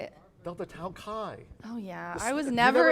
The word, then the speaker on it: Chi: Delta Tau Chi. No. How do you say it? Delta Tau Kai.